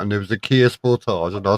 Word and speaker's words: Sportage: No, you say it incorrectly. It's actually a Kia Sportage.